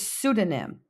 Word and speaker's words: pseudonym: The next word is pseudonym. Pseudonym. Notice the P is silent.